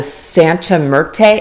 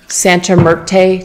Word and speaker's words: Santa Muerte: it is called the Sante mertay and I'm not saying it right Terra Santa Muerte Tarot and you would